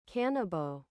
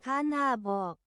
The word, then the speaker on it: Kanabo: Cannabo. Cannabo? Kanabo. Kanabo. Kanabo. Kanabo. Oh, Kanabo. Repeat after me. Kanabo.